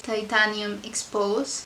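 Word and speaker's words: Titanium Exposé: It could be titanium exposed or titanium expose. I think it's expose, right? So yeah, I think that's the way to pronounce it.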